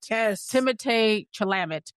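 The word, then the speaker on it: Timothée Chalamet: Just months before, right in front of Timothee Chalamet, right in front of or according to Doja Cat, Timothee Chalamet. I know. That's the correct pronunciation.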